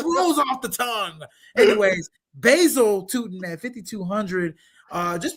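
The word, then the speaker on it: Bhayshul: It's just basil is how it's pronounced.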